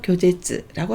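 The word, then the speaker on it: 拒絶: 거절을 교제츠, 짧게 읽으셔서 교제츠라고 하시면 됩니다.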